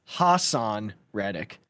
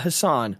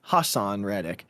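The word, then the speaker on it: Haason Reddick: I did not know this is how you pronounced it, but it's Hassan Reddick, not Hassan, Hassan Reddick.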